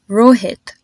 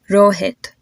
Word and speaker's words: Rohit: names Karan n and Rohit do you notice how my consonant just sound a whole lot softer so try to repeat after